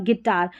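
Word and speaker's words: guitar: तो ये GU रहता है ना, तो GU में U साइलेंट रहता है। देखिए गैस, गेस्ट, गाइड और गिटार, तो यहाँ पर जो गैस में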